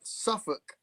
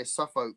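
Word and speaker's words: Suffolk: Uh, more like Suffuk. Suffuk. Yeah. Because you might look at M. You might want to say SuffK, right?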